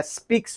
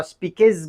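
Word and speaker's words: speaks: کلماتی هست که مثلا اگر سپیکس را ما سپیکز بگوییم اشتباه است، غلط است دیگه.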